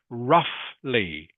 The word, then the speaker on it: roughly: okay couple of Corrections this word here is pronounced roughly can you say that please dlam roughly roughly good in this word the GH is pronounced like an if you might have seen this already in some other English words roughly roughly and this one